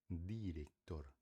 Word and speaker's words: director: Mais uma vez, a fonética da letra D. Director. Director não é diretor.